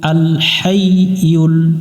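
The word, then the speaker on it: ٱلْحَيُّ: পড়তে হবে ইয়া পেশ ইউ আল হাই ইউল আল হাইউল এটা আমরা বারবার মাশটুকু করবো মিলবে ইয়ার সাথে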